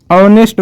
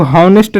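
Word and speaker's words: honest: फिर है यहाँ पर ऑनेस्ट मैन। इसको हम लोग हॉनेस्ट नहीं पढ़ेंगे, जबकि पढ़ेंगे ऑनेस्ट मैन।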